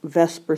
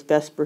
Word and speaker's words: VSEPR: um there's something called vesper theory i know it really spelled like the supper but everybody says vesper theory which stands for valence